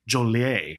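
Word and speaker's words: Jolley: Yeah, this Dan, his last name is spelled J O L L E Y. E Y. I may even not be saying it right. It may be Jol Jolier. Jolie.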